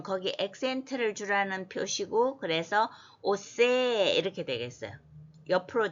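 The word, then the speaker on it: עֹשֵׂה: 그러니까 오, 그 다음에 자, 이렇게 이거 갈고리창 같은 게 점이 오른쪽에 있으면 쉬 발음이고 여기처럼 왼쪽에 있으면 스 발음이죠. 그런데 뒤에 이제 그 다이아몬드는 거기 액센트를 주라는 표시고 그래서 오세 이렇게 되겠어요.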